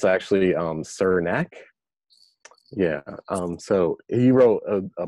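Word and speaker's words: Srnicek: I have just now learned how to properly pronounce this guy's name which I'm very embarrassed about but it's actually sir neck yeah so he wrote a book called platform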